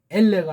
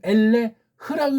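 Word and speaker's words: אֵלֶּה: 그러니까 이걸 읽을 때 걔네식으로 읽는다고 해도 엘레가 아니고 엘레흐라고 읽어줘야죠. 엘레흐.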